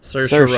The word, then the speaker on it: Saoirse: Saoirse Ronan.